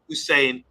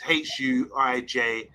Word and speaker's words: Huijsen: Dean Hussein just signed from Juve to go to Bournemouth. I'm pretty sure, says Bilal, it ain't pronounced Hussein. Let's have a look. I thought it was Hussein. It's Huijsen. I'm not sure.